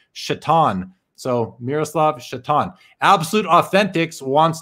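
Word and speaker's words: Šatan: says what about miroslav satan i mean people call him satan because his name is spelt like satan but it was pronounced i think it was pronounced shatan so miroslav absolute authentics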